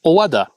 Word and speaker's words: 小和田: Well, the maiden name of the now Empress Masako was Owada, and it was written with the same kanji characters as the station name.